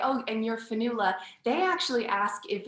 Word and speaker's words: Fionnghula: our our cultures um so finula it is it's spelled a very old irish way but um i'm very